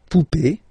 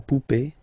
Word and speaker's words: poupée: then e here, okay, remember this final e is not pronounced, so you will have this e, remember, accent aigu, it's e. Sound, okay. La poupée, the doll. L'arrivée, the arrival, okay. La poupée, l'arrivée.